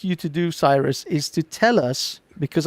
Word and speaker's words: Cyrus: pronunciation of it is Kiros because Cyrus comes from kurosh which is the actual name that we we Persians call it uh that became Cyrus